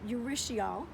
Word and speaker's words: urushiol: The oil in the poison ivy, and I know it's pronounced, not exactly sure, it's urushiol.